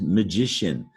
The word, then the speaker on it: magician: like an sh social here's magician ci magically sounds like an sh magician or a magician so associate that ci